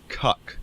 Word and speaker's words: Kek: Also worth noting, it can also be pronounced cuck.